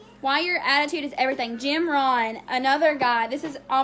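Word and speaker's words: Jim Rohn: diseases that right there it's Jim Ron it it's it's spelled G I mean J I am just like normal Jim and then Ron ro h n and he is and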